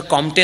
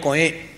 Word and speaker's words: Comte: पुन्हा दी कोए, पण स्पेलिंग COMTE, पण त्याचा उच्चार कॉम्टे नाही होत, कोए, दी कोए.